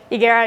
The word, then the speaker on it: Higuera: As she was saying, everyone laughs when they say my last name because Higuera, you don't pronounce the H.